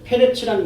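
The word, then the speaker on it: פרץ: 베레스는 원래 페레츠란 말이에요. 근데 이게 페레츠란 말은 터짐, 달라진 틈, 뭐 이런 말이에요.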